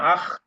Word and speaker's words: acht: acht, Acht না আখ একটা খয়ের মতো উচ্চারণ হবে আখ।